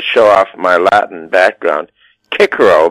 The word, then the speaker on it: Cicero: Now, also Cicero, and listen, I'm going to show off my Latin background, Cicero, because they used the hard C.